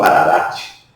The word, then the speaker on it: Ararat: bíblico por exemplo a montanha de Arará ou também pronunciada como Ararate Você se lembra o